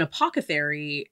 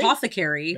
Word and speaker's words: apothecary: did you have like an apocary uh apothecary apothecary that word all i always say it wrong um oh i can't